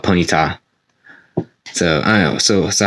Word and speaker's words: Ponyta: pony arm I know I hear people saying this as penita but I call it ponyta so I know so